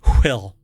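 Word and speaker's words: WHILL: l l so it's you have to pronounce it will based in California and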